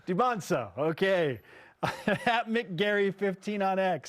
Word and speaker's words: Dybantsa: impact BYU basketball and that's the pronunciation with it we went over this de yes the t is silent debons debons okay educate yourselves it matters no you know it's not Deans it's or deaga it's debono okay at McGary 15